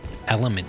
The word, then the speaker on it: LMNT: I drink a liter of water every morning, and I put element in it, which is magnesium and potassium. It's basically salt. LMNT is how it's spelled, if anyone's curious.